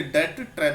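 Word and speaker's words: debt: B silent होता है इसलिए डेट ट्रैप बोला जाएगा।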